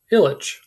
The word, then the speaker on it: Ilyich: and illitch is pronounced illitch the ills and itches of mortal life now comes my first